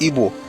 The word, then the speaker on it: Igbo: Even then your people will call it EO but they will write it like the British as IBO but the pronunciation is Ebo.